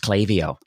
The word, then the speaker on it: Klaviyo: the record we know that it actually is pronounced clavio yes trust me it is a it is